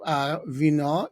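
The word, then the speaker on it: вино: And Kava is coffee, and Vyno is, as it is in so many languages, wine.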